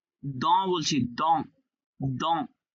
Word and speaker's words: dans: dans বলছি, dans. Dans. এ এন থাকলে অ হবে। হ্যাঁ এন থাকলে অ, দ, এন থাকলে অ হবে আর এসটা সাইলেন্ট থাকবে। হ্যাঁ।